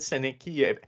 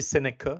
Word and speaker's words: Seneca: Puis là, tout le monde parlait de Seneki. Premièrement, c'est Seneca, ça a l'air. Ça s'écrit Seneki, mais c'est Seneca. Mais tout le monde l'avait.